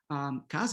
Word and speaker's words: casa: But this final A here, which comes after this, the stress syllable, is not really A, right? We're not gonna say casa, a minha casa, right? But we're gonna say casa, casa, casa, casa, okay?